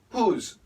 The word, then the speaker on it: who's: just learned who is who's who's who's make it a z sound having how do we